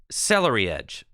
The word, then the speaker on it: Ceruledge: It's not Ceruledge. It's Ceruledge. Celery edge.